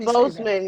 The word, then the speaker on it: Boseman: to give a little shout out to Chadwick Boseman. Was he Boseman? How do you say it? Boseman, yes.